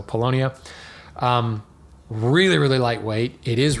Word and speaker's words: Paulownia: A lightweight hardwood, something like Paulownia. Sorry, I always, for some reason, I've always pronounced it Paulownia, and I know that's not how I pronounced it, so Paulownia.